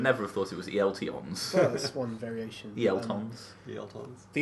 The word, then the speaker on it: ELTons: ELTons. Oh, okay. But it's not, it's ELTons. I checked. I would never have thought it was ELTons.